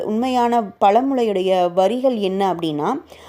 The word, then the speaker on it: வேரை: இருக்கோம் ஆனா அதனுடைய உண்மையான பொருள் உண்மையான பழமொழையுடைய வரிகள் என்ன அப்படின்னா ஆயிரம் பேரை இல்ல ஆயிரம் வேரை ஆயிரம் வேரை கொண்டவன் அறை வைத்தியன் ஆவான் அப்படிங்கறதுதான் சரியான உச்சரிப்பு இதுல ஆயிரம் வேரை அப்படிங்கறது